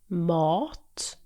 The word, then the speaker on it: mat: The vowel sound in mat is stretched out, while in matt, it's much shorter and quicker.